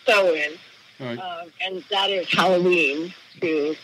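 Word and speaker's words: Samhain: um you know all holid we call it SE and that's of course spelled s a m h a i n but it's pronounced SE and that is Halloween too or all Hollows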